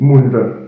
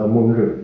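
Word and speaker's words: மூன்று: Then 3 is munre, munre, starting with an M sound as follows.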